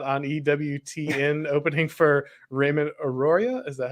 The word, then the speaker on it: Arroyo: an hour slot on EWTN opening for Raymond auroria is that how you say that properly oh boy I I would need to work Arroyo is how I usually have it pronounced I mean I'm a huge fan of